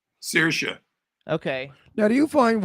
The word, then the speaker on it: Saoirse: So how do you pronounce her name? Saoirse.